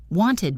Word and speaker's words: wanted: Third, and this is the only time we add a syllable, is the ID sound. This only happens after t or d. Wanted becomes wanted.